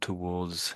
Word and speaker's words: towards: So, count towards, lean towards. Let's listen how they say it. They seem to be saying the the R is pretty much silent.